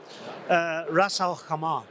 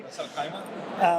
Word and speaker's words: Ras Al Khaimah: Ras Al Khaimah. I think I might have. Hopefully, I did them right. They taught me how to say it yesterday. Ras Al Khaimah.